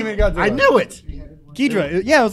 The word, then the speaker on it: Ghidra: It's Ghidra.